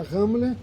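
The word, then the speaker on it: Ramla: na cidade de ramola se escreve ramola mas se pronuncia ramela Esse é uma cidade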